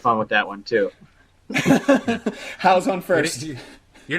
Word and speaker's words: Hou: Oh, it's How. How. H-O-U. I'm listening to the pronunciation. It sounds more like ho.